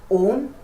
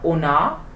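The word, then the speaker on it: он: So when it is stressed, that means in the first word on, in the word on, O is stressed. That is why it has a particular sound and pronounced longer with a high tone, on, right?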